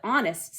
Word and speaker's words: honest: a good guess but honest starts with a silent h mrs brisbane wrote the